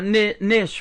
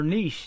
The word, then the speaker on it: niche: I think that's your niche right there, or niche as they say. I think, or niche. That's how you say it.